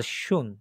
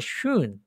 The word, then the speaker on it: schön: schon আর schön, একটা schon আর একটা schön, একটা schön আর একটা কি উপরটা কি schon আর একটা নিচেরটা কি schön। একটু umlaut schön বলার সময় কি ওই যে umlaut করেন যে ওইভাবে umlaut প্রনাউন্সিয়েশন করবেন।